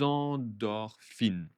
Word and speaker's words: endorphines: Attention la liaison, hein, des endorphines.